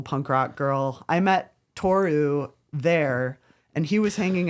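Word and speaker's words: Toru: I met Tou there and he was hanging out with the English speakers. I was pronouncing it wrong. My bad. That's okay. That's okay. Um, it's Tou.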